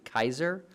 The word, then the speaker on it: Caesar: were pronounced for example we say Caesar today when it's actually Kaiser so we just go